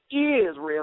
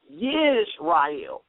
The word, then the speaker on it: Yisrael: First of all, it's not really even pronounced Israel. It's really pronounced Yisrael with a Y sound, because it's spelled in the Hebrew with a yod.